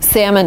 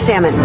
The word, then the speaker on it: salmon: And in America, the right way to say salmon is salmon. Have salmon. Salmon, yeah. But if you're in Great Britain, you can say salmon. Timber and salmon. With an L.